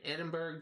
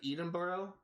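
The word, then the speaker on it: Edinburgh: to the University of Edinburg to uh I think it's actually pronounced edenboro I think uh to join the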